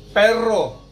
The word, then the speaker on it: perro: Sedangkan 2 R itu R-nya lebih bergetar lagi. R. Contohnya perro.